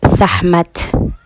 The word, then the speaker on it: Sekhmet: So, before I continue on with the story of Sekhmet, I'm actually using the correct pronunciation of her name, which in Somali is Sekhmet.